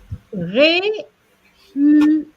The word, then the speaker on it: réussite: And then, réussite, 3 syllables.